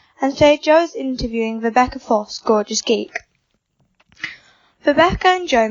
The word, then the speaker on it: Vibeke Foss: Today I'm interviewing Vibeke Foss of Gorgeous Geek. Did I pronounce it right?